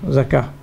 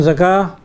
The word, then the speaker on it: الزكاة: Also in zakah, the khanjariya alif is placed right on top of the waw.